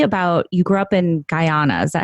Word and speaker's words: Guyana: fan tell me about you grew up in Guyana is that how you say it yeah so I was born in Guyana Diana the only english-speaking country in South America